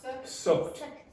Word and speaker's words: sucked: Sucked. Suck. Linked. Okay, now that's the standard pronunciation for verbs. Okay, if it's ed and it ends in a k sound here, then you pronounce like a t.